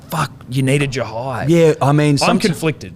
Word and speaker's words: Jhye: need to turn to Jhye. Yeah. A bloke with a silent H in his name, potentially, but also maybe not. Well, there's no small S above it, so we assume it's not silent.